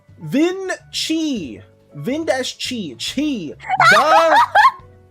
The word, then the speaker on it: Vinci: Is that Did you say Dinky? Yeah. Dink. Is that how you pronounce it?